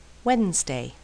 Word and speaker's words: Wednesday: afraid do don't and sometimes the D is silent handsome grandmother handkerchief grandfather handcuff Wednesday and here are some